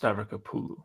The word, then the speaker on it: Stavrakopoulou: And also it's pronounced Stavrakopoulou. Okay. Now that would be difficult to pronounce if you didn't know how to do it.